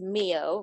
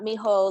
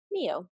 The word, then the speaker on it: Mio: First side note, it's Mio, rhymes with Neo. It's not mayo like the condiment or anything weird and overcomplicated. And it's not mijo like a little Mexican boy. It is just Mio.